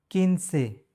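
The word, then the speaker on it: quince: किनसे, ऊ साइलेंट। किनसे, किनसे मतलब 15।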